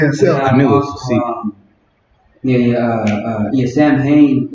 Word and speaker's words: Samhain: I knew it was Samhain is what it's pronounced right now. Back then it was Soin.